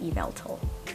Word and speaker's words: Yveltal: BT dubs, it is pronounced Yveltal.